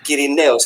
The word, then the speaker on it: Kirineos: So Kirineos is the right pronunciation. Okay. Kirinos.